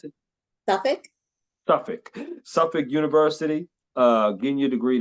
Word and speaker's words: Suffolk: How do you pronounce it? Suffolk? Suffolk.